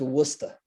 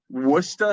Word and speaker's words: Worcester: at first of all it's worcester worcester what's that that's how what's the mass what's the match he's starting to talk like that now but it's spelled the way you said it but it's worcester what's the matter worcester